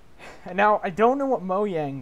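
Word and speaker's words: Mojang: I don't know what Moe yang does anymore by the way that's how you pronounce their company name I don't know what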